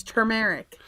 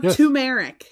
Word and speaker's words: turmeric: r i c it's turmeric turmeric a plant t r m e r i c not turmeric it's turmeric t r there's an R it's not tumeric if it was tumeric